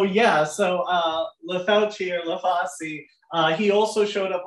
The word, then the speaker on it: Lafauci: also showed up late I'm not sure the right way to say it they always say leasi in the council meeting so I try to say leasi but they also say